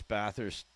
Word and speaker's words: Bathurst: When you come, you'll have to learn to pronounce baist like a local.